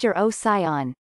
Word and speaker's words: Urocyon: The genus name Eurocyon, pronounced Eurocyon, is the combination of two Greek words that roughly translate into tailed dog.